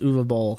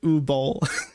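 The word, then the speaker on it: Uwe Boll: Um, and then announces that he is going to be fighting Uva Ball. What does that mean? Uvuva Ball. German film director. very weird name. It's spelled UA Bal, but it's actually pronounced Uvo Ball.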